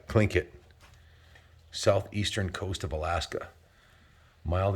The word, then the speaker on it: Tlingit: So it's spelled Tlingit, but it's pronounced Tlingit. Tlingit.